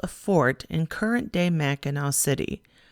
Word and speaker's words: Mackinac: fort in current day mackinac city spelling the local word for the area meaning place of the great turtle with the silent c that is spelled m-a-c-k-i-n-a-c i took some